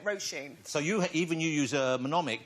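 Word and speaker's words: Róisín: Well, Washeen. Yeah, it's like row your boat and Mr. Sheen's how I say it, Roisin.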